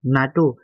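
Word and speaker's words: NATO: হু বলি পহে whoও বলে গুলি ন পহে নাটো একে লগে পহে এগুলা আগে দেখো দা নহেব যে নাকি সিঙ্গেলকে ইউজ কি কয় উচ্চারণ করা হয় যেন ইউএসকো ইউনেস্কো হু নাটো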